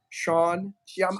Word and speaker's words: Sean Hsieh: It's not pronounced as it sounds. It's HSIEH. Sean Hsieh.